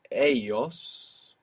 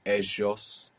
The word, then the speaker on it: ellos: And this L-L in most Spanish dialects makes a Y sound. You might hear ellos around Rio de la Plata in Buenos Aires of Argentina, Montevideo, Uruguay. You might hear like a J kind of sound in Colombia, ellos. But in the great majority of Spanish-speaking world, double L and Y make Y.